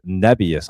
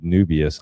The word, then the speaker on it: Nebius: Uh how do you say this one? NBIS. I It's Nebius. I've always said Nubious. I don't know why, but look at this thing.